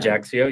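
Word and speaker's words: Ajaccio: Um going to hit up Katana, Naples, Ajaxio, is that how you say that? Ajaxio.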